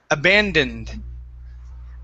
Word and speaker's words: abandoned: here is abandoned okay make sure to pronounce these ends we have an n right here and an n here abandoned abandoned okay one more